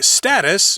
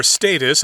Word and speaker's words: status: yep they'll monitor the status or status i think you can pronounce that word both ways it will just check